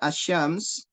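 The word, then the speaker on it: الشمس: lihat di situ kata asyams asyams ya agak sulit di sini asyams di sini Antum bisa lihat di situ ada alif lam ya Ada alif lam asyams tapi cara bacanya langsung ke huruf syin Kalau antum tidak tahu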